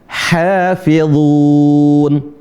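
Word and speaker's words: حافظون: Kemudian berikutnya huruf ha yang tipis. Ha hi hu bah.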